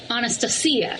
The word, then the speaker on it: Anastasia: would tell you that the proper way to say this is Anastasia oh yeah do you